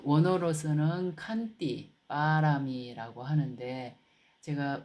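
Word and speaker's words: pāramī: 그러니까 빨리어로는 빠라미라고 합니다. 그래서 요걸 빠라미라든지 빠라미타라든지 이제 빨리로는 빠라미타 그리고 보통 산스크리어터로 읽을 때는 파라미타라고 이제 이렇게 발음하게 되죠.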